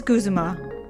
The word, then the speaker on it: Guzma: His name is Guzuma. Okay. So, I wasn't saying it right or wrong. I wasn't saying it right. Never saying it right. Yeah. So, then why did they take out the U in his name in English? Was it supposed to be Guzma the whole time?